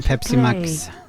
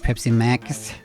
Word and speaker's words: Pepsi Max: it when talking English Pepsi Max Pepsi mugs like Pepsi Max would be the Norwegian pronunciation but I guess it's like as in maximum Pepsi maxes at Rickson